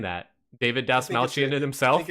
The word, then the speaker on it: Dastmalchian: let me just ignorantly say I'm going to pronounce it David D malan now I don't know if that's correct that's not it the hell was that kind like oh you're just playing ads yeah David dust malan there you go who is actually saying that